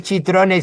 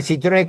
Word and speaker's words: Citrone: Bueno, podría hacerlo, pero no es chitrone. Citrone con C, ¿no? En italiano la C se pronuncia C.